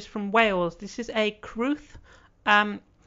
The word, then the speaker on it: crwth: wales this is a cruth um spelt crwth uh but pronounced kruth because it's welsh um this instrument was